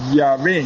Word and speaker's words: Yahvé: de Dios, o sea, revelado como Yahvé, o sea, Y, la I de Grecia, la Y, la H es muda, me suena, y la B.